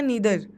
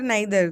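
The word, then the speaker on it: neither: फिर अगला देखते हैं हम ईदर या नीदर, आइदर नाइदर, दोनों प्रोनाउंसिएशन करेक्ट है, एक ब्रिटिश इंग्लिश है एक अमेरिकन इंग्लिश है, ठीक है।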